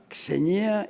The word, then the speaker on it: Xenia: I love senior or Xenia I'm sorry with this X pronounced Z in English Senya is the second part